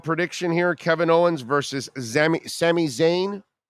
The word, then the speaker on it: Sami Zayn: here Kevin Owens versus Sami Zayn that's how it's pronounced Sami Zayn all right well you